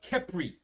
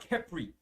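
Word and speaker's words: Khepri: Now the swarms of flies represents the god Kepri. Okay, I'll spell it. It's K-H-E-P-R-I. This was the Egyptian god of creation and movement of the sun. Right? That was the god Kepri.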